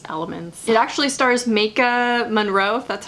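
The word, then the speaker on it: Maika Monroe: but it has its elements it actually stars maka monroe that's how you pronounce her name from it follows and a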